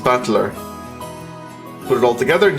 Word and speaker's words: Battler: It's made up of the characters for fight and person and it's pronounced battler.